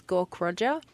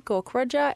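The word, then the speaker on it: Gaukrodger: my last name is gork Roger and it is long and confusing it's kind of pronounced just as it's written gork Roger and I am just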